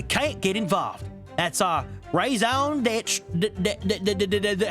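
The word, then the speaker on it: raison d'être: That's our raison d'etre. How do you pronounce that? In first standard American English, and then into. Hold on. Raison d'etre.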